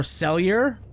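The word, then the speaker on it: Sellier: directed by Charles E celier I believe that's how you pronounce the man's name or celier either one let's go with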